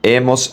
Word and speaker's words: hemos: Remember that the letter H is silent, so the pronunciation is going to be e, as, a, hemos, an.